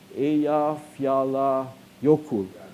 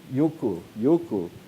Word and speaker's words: Eyjafjallajökull: How do you pronounce it? Eyjafjallajökull. Jökull.